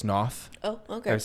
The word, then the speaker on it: Noth: She says, I was saying the guy Chris North from Good Wife, and it's Chris Noth.